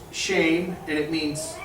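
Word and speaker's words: שֵׁם: Shem, as we discussed earlier, is pronounced shame, and it means name.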